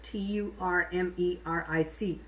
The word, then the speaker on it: turmeric: have turmeric every day it's pronounced turmeric t-u-r-m-e-r-i-c pronounce it turmeric because that's what i see being pronounced all over the place it's really pronounced turmeric and then um there's